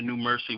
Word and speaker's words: NuMerC: also on facebook on the new mercy which is spelled n-u-m-e-r-c new mercy gospel uh you can